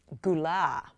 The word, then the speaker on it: Gullet: I'm playing the principal of the school, Mrs. Gulah, spelled Gullet, and who turned out to be a real person. She was actually there. Gullet. So everybody is saying her name wrong and it turns out to be like the main role, right?